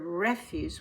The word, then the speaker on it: refuse: Don't refuse. This is a verb, so we say refuse. There is a word refuse, which is a noun. It means trash. But this is the verb refuse.